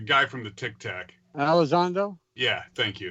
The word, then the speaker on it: Elizondo: Elizondo? Yeah, thank you. Elizondo, Luis Elizondo.